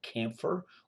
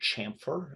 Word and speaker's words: chamfer: some programs this is called camphor or chamfer depending on how you pronounce that word and you can see